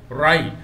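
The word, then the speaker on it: wry: You have to read rai. W is silent.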